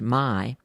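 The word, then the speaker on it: May: West one German author Carl Mai spelled m-a-y but pronounced my began writing exciting cowboy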